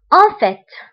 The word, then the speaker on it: en fait: فقلنا بالواقع هي en fait. En fait. هنا التي كنطقوها في آخر الكلمة. En fait.